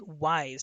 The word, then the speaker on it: Wise: mastery of personal finance wise or weiss it's actually wise w i s or w here let's see here w-i-s-e is the way it is spelled and that one is